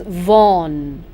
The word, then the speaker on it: Vaughan: fourth poet henry vaughan please pronounce his name properly friends this is vaughn born 1621 and he died in 1695.